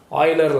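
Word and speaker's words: Euler: இது வந்து யூலர் line அப்படிங்கிற மாதிரி இருக்கும். பட் ப்ரொனவுன்ஸ் பண்ணும்போது ஆயிலர் லைன் அப்படின்னு தான் நம்ம படிக்கிறோம். சரிங்களா?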